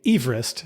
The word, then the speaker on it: Everest: the name and interestingly he pronounced his name Everest so I guess I should say Everest oppos the name but